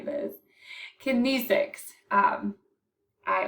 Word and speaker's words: kinesics: can never say this kinesics um i always want to try to say kinetics but it's kinesics um thank you google